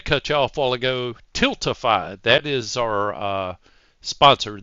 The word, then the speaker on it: Tiltify: And Tilt Tiffy, didn't I? I was even trying to correct myself and I still butchered it. Tiltify. So I said Tilt Tiffy.